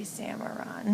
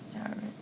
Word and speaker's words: Saruman: Saruman? Saruman. I keep saying, I want to say Samaron. That's not it. Saruman.